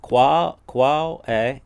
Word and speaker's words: qual é: Qual é? Together it's qual é. You hear the L now.